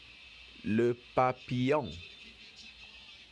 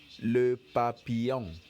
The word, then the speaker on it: le papillon: repeat after me let's go butterfly is called Le Papillon Le Papillon very good a cat is called Lucia Lucia